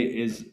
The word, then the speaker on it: Ai: utterly destroy the Canaanite city of Ai, which is pronounced I, like the eye of providence.